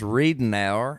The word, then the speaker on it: Readnour: But that is pronounced Readnour, and Readnour.